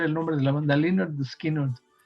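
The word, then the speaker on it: Lynyrd Skynyrd: nombre el nombre del disco se se llamaba Pronounced Linard Skinner, o sea, con que la descripción gráfica de cómo se debe pronunciar el nombre de la banda Linard Skinard.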